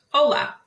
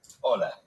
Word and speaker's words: hola: did you notice that although hola starts with the letter h it is not pronounced the letter h is always silent in spanish now how do you say hello hola hola so it's a great